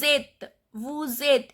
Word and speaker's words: êtes: Vous êtes, S is silent.